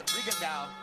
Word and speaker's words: Rigondeaux: I'm going to go for the simpler pronunciation, Max. Rigondeaux, I believe we'll just live with that one and let those sophisticates who speak Cuban dialect perfectly throw in the E if they wish.